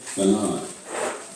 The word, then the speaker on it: banana: between syllables and stress think about the word banana banana has three syllables do you pronounce all the syllables the same na na no you don't one syllable is stronger banana this is is